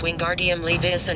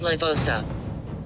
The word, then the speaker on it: Wingardium Leviosa: Besides, you are saying it wrong, it's Wingardium Leviosa, not Levosa.